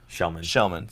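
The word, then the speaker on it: Kellman: I mean, even Melker was a +1 because Kelman scored a goal. Shellman, sorry. And someone said that, why is it pronounced Shellman when it's Kelman? It's Swedish.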